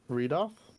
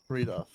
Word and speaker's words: Reidoth: Reidoth? Reidoth. Reidoth.